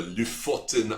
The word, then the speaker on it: Lofoten: It's called if you pronounce it with the correct accent, the Lofoten Islands. It's spelled Lofoten in the north of Norway.